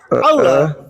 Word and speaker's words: Allah: mengatakan bahwa Allah A L A H itu bacanya itu Allah.